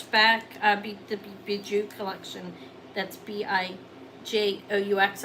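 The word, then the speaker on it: Bijoux: That's B-I-J-O-U-X. I may be pronouncing that wrong. I think it is Bijou, though.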